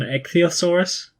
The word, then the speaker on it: ichthyosaur: You're going to have to help me with the pronunciations here, but I think it's an ichthyosaur and a plesiosaur.